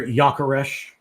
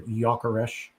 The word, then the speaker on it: Gyökeres: Um, Victor Yakareesh, I believe is how he pronounced it. So, it's Victor Yakareesh to me.